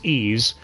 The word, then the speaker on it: Ys: OVA or Ys and yes it is pronounced ease and papa from Hello